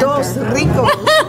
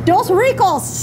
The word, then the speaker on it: Dos Ricos: Dos Rico. I'm not saying it the way I don't think I am. I did right. so well earlier. Nancy said it right. It doesn't matter. Dos Ricos.